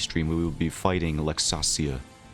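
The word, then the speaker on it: Laxasia: we will be fighting luxasia people say LAX Asia but I'm going to do her the honor of pronouncing her name correctly I I know haven't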